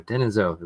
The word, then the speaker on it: Denisovan: Denisovan.